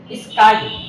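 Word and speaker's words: sky: এস এর পরে যদি কি আসে তাহলে যেমন স্কাই, এটা অ্যাসপিরেটেড হবে না, স্কাই হবে, স্কাই হবে না।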